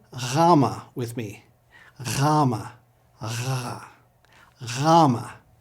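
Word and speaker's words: Γάμμα: Rama. Rama is similar to our English G, but with a softer sound.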